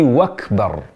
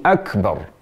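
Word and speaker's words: أكبر: akbar menjadi Allahu akbar kata Akbar menjadi wakbar ini kesalahan yang sangat fatal sekali jadi tidak boleh mengucapkan Allahu akbar harusnya Allahu akbar Allahu akbar jadi Akbar pakai Hamzah harus dibaca dengan e jelas jadi yang betul yang benar adalah Allahu akbarullahu akbarullahu akbar jadi pada kata Akbar pakai Hamzah a bukan wa jadi Akbar bukan wakbar sekali lagi yang benar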